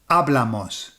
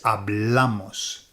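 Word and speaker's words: hablamos: So that's ablamos. Ablamos. Okay. Be careful. It's not ablamos. Okay? Because we've just done abl. It's not ablamos. It's ablamos. Okay? That's where your emphasis goes.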